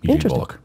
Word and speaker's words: Eugene Volokh: Eugene Volokh, forgive me, Eugene, if I mispronounce your name. Actually, he was one of my professors at UCLA. Really? Yeah, Eugene Volokh. Yeah, you pronounced it correctly.